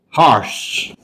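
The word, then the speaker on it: hearse: e r is e harsh the pronunciation is Harsh harsh means that vehicle which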